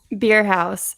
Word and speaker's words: Bierhaus: name like i did amber's how do you pronounce it beer house beer house german yes all right so